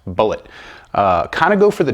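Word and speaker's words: Bulleit: pronouncing his name wrong which would come as a shock to mr. bullet because it's pronounced bullet kind of go for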